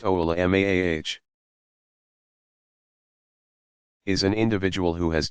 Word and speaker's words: ulama: An alim, pronounced a'lim, commonly used singular of ulama, pronounced oula-maah, is an individual who has done extensive study of the Quran, tafsir, exegetical commentary, and hadith, for starters.